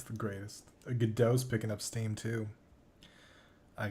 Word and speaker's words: Godot: oh, it's Gal Gadot, because that's how I pronounce the engine, the game engine, Godot.